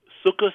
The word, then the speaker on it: Sukkot: that 1 week of Sukkot. Sukkot or Sukkot, depending on your generation, you pronounce it differently.